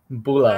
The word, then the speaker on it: Bula: Yeah, Bula.